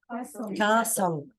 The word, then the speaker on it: castle: Castle. Yeah, remember it's a long A.